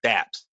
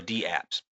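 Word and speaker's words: dApps: in fact I think they actually mean to pronounce these as D apps and not daps because it's a capital D and then the word apps so I think and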